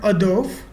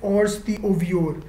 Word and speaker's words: hors d'oeuvre: used are in French the appetizer is called Ador as you can see point to be noted